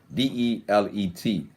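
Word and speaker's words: דלת: As the door dalit, the dalit, four, that's the number four in Hebrew is pronounced the dalit, Delet.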